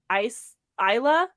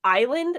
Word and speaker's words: Isla: name is Isla but I always pronounce it ice Isla because it's like Island and so I was like okay she's got like Latin roots so it's probably like I love but it's Isla or Isla and I was like